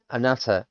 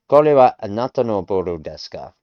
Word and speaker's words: anata: Anat see, I'm still trying to say an anata anata and it's not anesa.